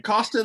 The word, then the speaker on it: Coston: Okay, today we have on the Fun Ideas podcast Daniel Coston. Is that how you pronounce it? I should have asked ahead of time. Coston, like Boston with a Coston.